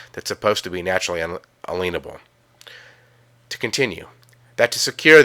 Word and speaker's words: unalienable: Now really quick, an unalienable right, pronounced inalienable in today's words, means a right that cannot be liened or a right given to you from God.